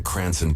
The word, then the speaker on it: Cranston: They meant to type Cranston, but Florida officials may have misunderstood a road islander pronouncing Cranon Pauliey's department in their famed accent.